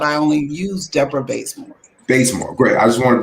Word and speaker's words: Bazemore: Bazemore, great.